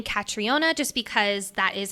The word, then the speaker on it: Catriona: ways of pronouncing it there's the American way traditional American way that is catriona and then there's the more UK Irish way of Katrina we're going to continue saying katriona just because that is